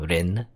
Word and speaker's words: Lynne: very similar I guess in Japanese L&R is like you know pronounced the same way so it's technically pronounced exactly the same Rin so I don't know